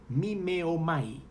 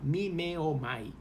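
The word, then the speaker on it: μιμέομαι: e imitar me viene de un vocablo griego me meo my eso así se pronuncia la palabra griega de la traducción de esta epístola me meo my y significa una mímica o actuación el verbo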